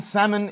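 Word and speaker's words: Salman: in the in the uh Prince Muhammad bin summoned what's the pronunciation so it was Prince Mohammed bin salmon gifted the team Rolls-Royce right that that's how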